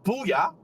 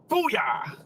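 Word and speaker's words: Boulia: We will stop in Booyah. Didn't say it properly. Booyah.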